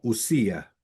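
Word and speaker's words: οὐσία: Sabemos que el griego cuando hay un dip tongo se juntan la o y la u y si y se eso sería como usía, ese es el sonido. Así sería la correcta pronunciación.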